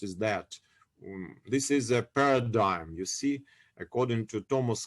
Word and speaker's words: paradigm: history philosophy and methodology of science paradigm it's pronounced paradigm it's written in this way like i wrote